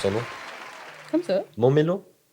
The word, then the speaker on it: Momelo: Comment on prononce ton nom? Comme ça. Momelo? Momelo.